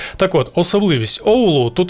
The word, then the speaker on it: Оулу: Але особливість Оулу, так, наголос на букву О, виправляюся. Так от, особливість Оулу – тут сильні вітри, і під час пожеж вогонь занадто швидко розповсюджувався по місту.